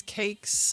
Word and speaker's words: Cvkes: and listeners hey y'all my name is cakes uh that's spelled CV kees I'm a singer songwriter